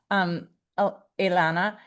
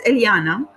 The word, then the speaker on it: Eliana: And I don't know if you'll have this experience, Ilana. Is it Eliana? It's Eliana.